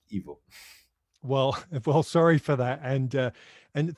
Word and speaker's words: Ivo: I mean, I work nowadays mostly for Netflix and BBC, and of course, in English you pronounce an E like an I and an I like an E.